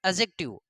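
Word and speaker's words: adjective: हमने इसको एडजेक्टिव इसलिए पढ़ा है कि डी के बाद में अगर जे आ जाता है तो हम लोग डी को साइलेंट पढ़ेंगे।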